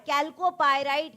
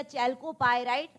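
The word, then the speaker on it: chalcopyrite: चैलकोपाइट कैलकोपाइराइट या चैलकोपाइराइट आप जैसा भी प्रोनाउंस करें।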